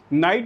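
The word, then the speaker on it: knight: दोनों का pronunciation same है क्योंकि इसमें के साइलेंट है।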